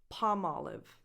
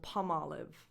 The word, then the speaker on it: Palmolive: is Colgate number two Palm Olive this is made up of two plant names palm palm the L is silent olive olive Alex at the end Olive so Palmolive Palmolive again imagine the